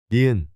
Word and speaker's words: 니은: This is pronounced like the N in no. 니은.